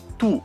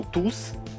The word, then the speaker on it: tous: ils sont tous riches tous les dentistes l'adjectif le s ne se prononcent pas ils sont tous aux normes avec le s qui se prononce trois numéros 3